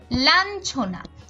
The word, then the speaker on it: লাঞ্ছনা: আমাদের উচ্চারণটা হচ্ছে বঞ্চনা একইভাবে লাঞ্ছনা এখানে ইয় এর সাথে ছ যুক্ত হওয়ার কারণে উচ্চারণটা হচ্ছে